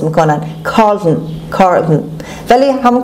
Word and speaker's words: Carlton: حلقشون مثل تلفظ میکنن Carlton. ولی همون Carlton هم که بگید اشکالی نداره و حواستون باشه مثل همشه تأکید میکنم O-N is pronounced as schwa Carlton.